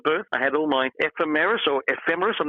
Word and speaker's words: ephemeris: I had all my ephemeris, I'm not quite sure how you pronounce that word, but all the little, ephemeris, thank you, what was in the sky at a certain time when I was born.